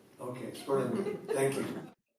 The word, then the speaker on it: Sperlinger: Is it hard G or soft? Hard G. Okay, Sperlinger.